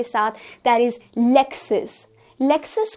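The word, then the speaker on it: Lexus: लेक्सस को हम LEK, लेक्सस की तरह प्रोनाउंस करेंगे एंड लेक्सस becomes the correct pronunciation.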